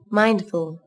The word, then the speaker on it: mindful: Từ này các bạn chú ý có 2 âm tiết, trọng âm rơi vào âm tiết đầu tiên. Nguyên âm đôi trong từ này là âm I. Các bạn chú ý đọc âm A nối với âm I.